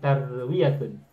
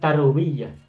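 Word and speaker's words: تروية: Dari kata rawa yurwi tarwiatun. bukan tarwiyah.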